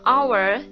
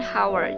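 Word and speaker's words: hour: Anda orange Our ya walaupun our diawali dengan huruf E atau ha tetapi dibacanya our bukan hower jadi pakainya end and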